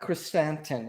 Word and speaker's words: Krrsantan: Then we get, which is probably the best wake up scene in Star Wars with Black Krrsantan. Am I pronouncing that correctly?